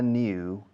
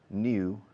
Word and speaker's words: new: I'm looking for a new house. La palabra nueva, new, has two pronunciations, new or new.